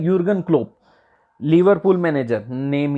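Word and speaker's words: Jürgen Klopp: क्या बोलेंगे हम, ये यूर्बन क्लोप, ये टीम है, क्या है देखते हैं हम आगे, क्या है इसका नाम। इसमें जे जो होता है वो साइलेंट रहता है, इसका नाम होता है यूर्गन क्लोप।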